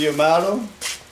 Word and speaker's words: Yamato: This is Yamato. Good Lord, yeah, it rhymes with tomato.